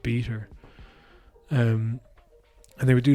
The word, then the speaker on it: b3ta: stuff and Co is it's spelled b3ta but it's pronounced beater um and they would